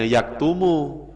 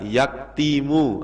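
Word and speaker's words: يكتم: harakatnya Gimana cara bacanya ya tetap bacanya yaktumu tidak boleh dibaca yaktimu atau yaktamu enggak boleh karena kalimat yaktumu sudah mengikuti pola yaf'ulu misalnya lagi ada kalimat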